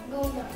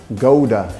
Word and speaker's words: Gouda: That is like an H. Like an H in English.